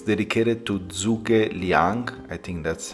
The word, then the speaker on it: Zhuge Liang: It's dedicated to Zhuge Liang, I think that's how you pronounce it, which was a military strategist and a statesman from the Three Kingdoms period.